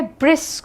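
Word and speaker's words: brusque: देखिए अब यहाँ पर प्लीज़ ध्यान रखिएगा कि हमारा जो शब्द है वो है ब्रिस्क, ब्रुस्क, ठीक है। इसको हम कैसे कहते हैं, ब्रुस्क की तरह प्रोनाउंस करते हैं।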